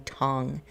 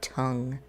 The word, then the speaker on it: Tong: answer tong i need to make sure i'm pronouncing tong and not tongue okay chu tong didn't